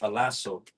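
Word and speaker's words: ἀλλάσσω: And the word in the Greek is pronounced alaso.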